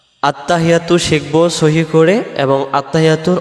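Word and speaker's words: التحيات: ভিডিওটির মাধ্যমে ভিডিওটি শেষ পর্যন্ত দেখবেন ইনশাআল্লাহ আত্তাহিয়াতু এখন আসেন এই শব্দটাতে আমরা কি ভুল করে ফেলি আমরাদের উচ্চারণে আত্তাহিয়াতু আত্তাহিয়াতু আত্তাহিয়াতু হা জের হি ইয়ার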